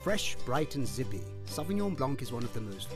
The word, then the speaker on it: Sauvignon Blanc: in the cellar, let's first learn how to pronounce it correctly. Sauvignon Blanc. Sauvignon Blanc.